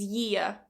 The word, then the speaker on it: year: a problem with his year". You notice now I'm adding that /j/, for the year. With his ear, with his year.